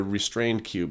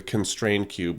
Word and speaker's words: Constrained Cube: It's not the restrained cube. It's called the constrained cube with a C, not with an R.